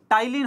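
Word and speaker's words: ptyalin: और plus salivary amylase का दूसरा नाम क्या है, टाइलिन होता है, पी साइलेंट होता है यहां पे, टाइलिन इसका दूसरा नाम है, क्लियर, बी ऑप्शन।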